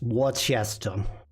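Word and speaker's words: Worcester: job pronoun Worchester sauce hardest word Worchester if you're in Boston it's Wester what okay uh let's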